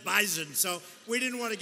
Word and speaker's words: Bison: I said, I thought it was an S. They said it is, but it's pronounced bison.